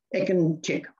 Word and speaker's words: Ekinçik: what Greg just did, when you see the C, you pronounce it ch, as if it was ch, Ekinçik.